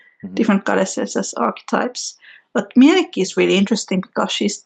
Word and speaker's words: Mielikki: Mielikki and Loviatar, the pronunciations.